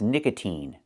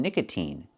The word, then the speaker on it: nicotine: And the second word is nicotine. So sometimes it's pronounced with the e sound like green beans like in nicotine.